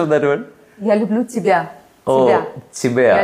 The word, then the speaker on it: Я люблю тебя: So what is the correct pronunciation of that word? Я люблю тебя.